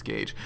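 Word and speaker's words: gauge: caps a seam godge assembly oh see I pronounce it godge but it's Gage um and old painless which is a unique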